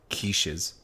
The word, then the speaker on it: quiche: what a quiche is that's how it's spelled I'm like where's the k no it's cute highly underutilized but makes the same sound the